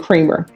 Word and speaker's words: Creamer: It's cremer. C r e a m e r. Is that how you pronounce it?